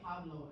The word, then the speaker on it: hablo: Well, the H is silent, like Mhm, and you don't yo say it. hablo, as you say yo hablo, and then the J is pronounced like an H.